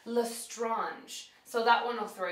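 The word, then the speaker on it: Lestrange: but her last name I always that was pronounced L strange but it's actually lrange so that one will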